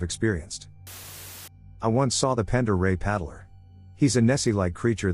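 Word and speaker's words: Pend Oreille: Pacific Northwest northern Idaho to be exact it's pronounced Pond or a by the way Lake Pender Ray is tremendous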